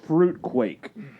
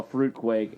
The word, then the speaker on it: Fruit Quake: Man, when I got this Mountain Dew, I saw Fruit Quake. I didn't see Fruit Cake on it. Oh. Fruit Quake. Yeah, that sounds great. No, it rhymes with fruit cake.